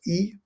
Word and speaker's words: y: familiar with it and you'll often find this pronoun written y but pronounced e referring to locations right